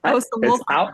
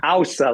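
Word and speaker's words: Ása: When I look at both Aurora Elder and Osa, I'm saying it right. Osa Ausa, like Ausa. Okay.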